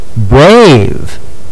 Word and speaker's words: brave: Now this sound is A, but Buddy E over here is silent. He's just there to encourage Mr. A to say his name, like in eight, brave, and gate.